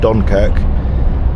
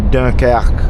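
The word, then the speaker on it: Dunkerque: So, that's not Dunkerk. That's the English pronunciation. It's Daka.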